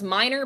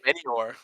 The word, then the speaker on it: Minior: I always pronounce this Pokemon as minor, but I don't think that's how you pronounce it. We're going to call it minor. Uh, specifically Minior.